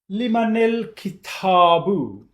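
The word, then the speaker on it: لِمَنِ الْكِتَابُ: And if you remember from one of the previous videos, when we combine ism which has al on it, which lam is silent, then the previous word,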